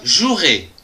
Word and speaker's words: jouerai: du verbe jouer je jouerai attention ici il y à un e qu'on ne prononce pas demain je jouerai demain